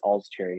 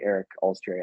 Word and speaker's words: Olcsvary: It's Olcsvary, Eric Olcsvary. I don't care if you say my name wrong now.